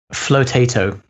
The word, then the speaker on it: Flotato: Flotato is one of the market leaders for that. For the wrappers. How do I spell that? Spelled like potato, but FL. FLOTATO. So potato FL. But float ATO.